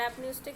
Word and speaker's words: apneustic: You knows pneumotaxic center, it is pronouncing from the N, so you can call it as negative regulation, and apneustic center is pronouncing from the A, so you can remember it by addition, so plus.